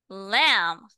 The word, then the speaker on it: lamb: read again this one lamb lamb lamb ah silent B no b lamb lamb ship K cop